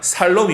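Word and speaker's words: שלום: 입니다 살 엄 에 영어식으로 자살로 미 라고 얘기하는데 히브리어에서 는 원래 발음은 살롬 임 살로 없고 예 그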